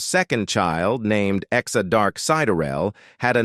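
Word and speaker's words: Sideræl: The final part of her name, Siderel, pronounced Sider-el, has a dual meaning.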